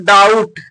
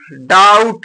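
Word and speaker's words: doubt: debtor माने रीढ़ होता है अगला वर्ड है डाउट डी ओ यू बी टी यहां पर देखिए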